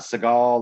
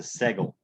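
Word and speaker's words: סגול: to write it okay it's not segal like steven seagal all that it's a segal so the reason why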